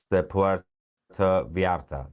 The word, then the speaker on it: Puerto Vallarta: Also, apparently, it's pronounced Puerto Vallarta.